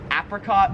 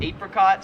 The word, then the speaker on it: apricot: So that is apricot or apricot. So apricot is like the American way, but I've always pronounced it apricot, which is how like everyone in Australia pronounces it.